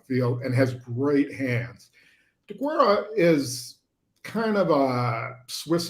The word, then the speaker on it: Deguara: DeGuara. He's spelled right, but it's DeGuara.